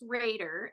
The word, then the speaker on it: Rader: what is that okay okay so um it's pronounced Raider Ander I mean yeah you're good it's I